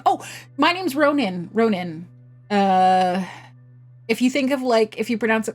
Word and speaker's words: Ronen: Oh, my name's Ronin. Ronin. Uh, if you think of like if you pronounce it kind of like like Ronin, that's that's Yeah, Ronin.